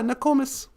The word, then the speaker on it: Nokomis: Yeah, we spell it with an O. No kumis almost. But yeah, Nokomis is grandma.